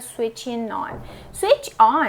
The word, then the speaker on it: switching on: Aqui esse G é mudo, silent, e ele vai se juntar esse N com esse N, vira switching on.